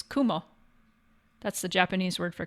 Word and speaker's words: kumo: Cloud uh but um the word for cloud in Japanese is Kumo that's the Japanese word